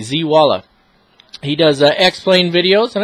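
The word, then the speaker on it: Zeewala: Z Walla. Go over, check out his channel. It's spelled just like it says, Z-E-E-W-A-L-A, Z Walla.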